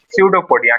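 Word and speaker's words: pseudopodia: सडोपोडिया। क्या कहते हैं? सडोपोडिया। पी जो है यहां पर पी साइलेंट रहता है। इसको पढ़ते हैं हम लोग सडोपोडिया।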